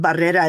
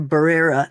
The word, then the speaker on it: Barrera: If somebody had told me that it was okay to say my name Barrera instead of Barrera, the way the teachers pronounced it and the way that happened.